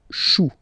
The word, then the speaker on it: choux: Then un chou, okay, remember, when you combine this C and H, you get the sound sh, sh, sh. Chou, un chou, pluriel, des choux.